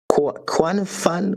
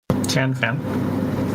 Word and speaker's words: Tianfan: So we have I sorry if I don't pronounce this right. Quan Fun what? I'm not a Chinese guy, so I cannot pronounce this. Tianfan.